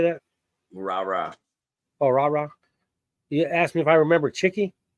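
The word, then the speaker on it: Rara: Rah-rah.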